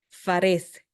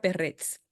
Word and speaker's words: Perez: la Biblia como expliqué reina valera dice eh farz pero del lebrero se pronuncia perrez y de ahí vino